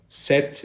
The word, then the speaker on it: cet: And as you saw, set and set are pronounced the same way.